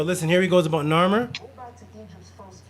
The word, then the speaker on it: Narmer: The catfish gives you Nar, and the chisel gives you Mer.